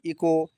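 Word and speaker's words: echo: हावर इसमें ओ के पहले एच आया अगली मीनिंग है इको इको इको देखो प्यारे बच्चों यहां देखो इको इको यहां पर एच का प्रोनाउंसशन नहीं हो रहा है इको यहां पर नहीं हो रहा है।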